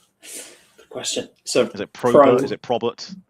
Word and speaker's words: Probert: So Probert. Not Robert with a P. Not right, although that is the easiest way of getting people to spell it correctly. It's Robert with a P in front.